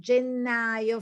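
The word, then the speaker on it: gennaio: january february of february remember to pronounce the double consonant genealo febrio this is difficult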